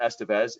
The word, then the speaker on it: Esteves: You do not pronounce it Esteves. It's Esteves.